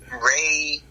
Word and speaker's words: rey: Ray, it's spelled R-E-Y, and Ray in Spanish actually means king.